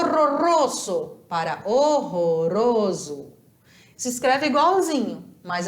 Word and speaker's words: horroroso: fantástico o russo para horroroso se inscreve igualzinho mas a pronúncia é outra porque o r Ele sempre vai vibrar em espanhol horroroso Não importa se é